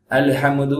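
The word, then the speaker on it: الحمد: இருக்கணும் ஹம் அந்த ஹம் உடைய டிராவலிங் கரெக்டா இருக்கணும் அல்ஹம்துது அப்படி சொன்னா தப்பு இல்ல அலம்து அப்படி சொன்னா தப்பு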